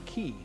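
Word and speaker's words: quay: Wharf which is pronounced key spell the word meaning Wharf which is pronounced key what rapper has said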